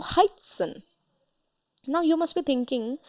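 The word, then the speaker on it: heißen: that doesn't mean that we are going to pronounce it as high etet n no that would be incorrect the pronunciation will come as heighten wherever etet comes we emphasize there and we pronounce like double Esa sound so heighten now you must be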